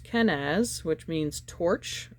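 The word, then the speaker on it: Kenaz: Mars I believe all right yes it is pronounced kenz which means torch it's the creation's fire with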